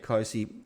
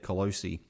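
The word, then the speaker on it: Clohesy: So I'm calling Ted Closey the Colossus because someone on VFL commentary was pronouncing his name Ted Colosi.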